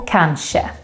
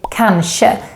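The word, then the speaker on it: kanske: say and some say cancer and some sweets actually mix and say both both pronunciations are correct and it depends a bit on the dialect and maybe even preference I personally say can she but it doesn't sound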